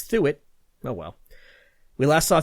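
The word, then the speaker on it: Thuot: three pierre the it through it is another pronunciation that i have to correct his name is spelt t h t-h-u-o-t so i went with duo but nope it's through it oh well we last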